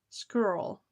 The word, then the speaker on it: squirrel: rhymes with girl. Squirrel, we have to stop meeting like this.